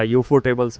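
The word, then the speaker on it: Ufotable: बनाई हुई हैं, पर यूएफओ टेबल्स ने, यूएफओ बोल लो या यूफो टेबल्स बोल लो, मेरी प्रोनाउंसिएशन ऐसी है, मैं अनसंट बोल देता हूँ।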